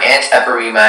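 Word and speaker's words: antepirrhema: She suffered from anteparema and had...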